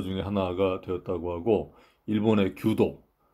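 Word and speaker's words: 弓道: 독일이나 일본에서는 이 책이 일본 문화에 대한 베스트셀러 중에 하나가 되었다고 하고 일본의 규도, 이게 이제 궁도인데 이제 일본 발음으로 이제 규도라고 합니다.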